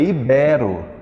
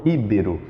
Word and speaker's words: ibero: é ibero íbero íbero que as pessoas dizem na verdade é ibero ibero Ele é ibero americano é b não íbero não coloque um acento aí maquinaria e não maquinária